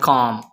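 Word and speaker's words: calm: तुम मेरा सुकून हो, यू आर माई काम। इसमें जो एल है ये साइलेंट है, इसको प्रोनाउंस नहीं करेंगे।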